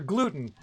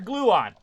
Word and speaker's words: Gluon: or dr gluten no i called him dr gluten his name is dr gluon is his actual name see look i even